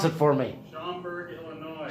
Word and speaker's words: Schaumburg: And we have made it to, Pat, pronounce it for me. Schaumburg, Illinois. Schaumburg, Illinois.